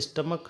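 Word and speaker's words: stomach: ठीक है, तो ये जैसे स्टमक है, अब यहाँ पर भी क्या है? सी एच का प्रोनाउंसिएशन क्या दे रहा है?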